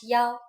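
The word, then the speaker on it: 幺: numbers and so on we pronounce one as Yao for example a bus number 101 is pronounced and you can even use yo instead of E when saying phone numbers try it while you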